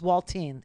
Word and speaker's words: Waltine: His name is Waltine. Rhymes with Saltine.